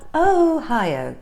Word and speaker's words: Ohio: who of Ohio of Ohio so yes it's not a y o a while Ohio I think I was